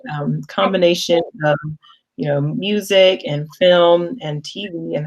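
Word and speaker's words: música: actually pretty similar to music and english you just pronounce it slightly different and then you have an a at the end so in spanish is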